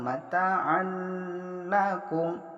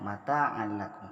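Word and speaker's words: مَتَاعًا لَكُمْ: adalah Hai tanpa dengung mata anak Um langsung mata Anda Kunti Dak boleh didengungkan mataan nakum itu salah yang benar mata anakku karena disini idgham bilagunnah memasukkan tanpa dengung yang kedua Madan lubadaa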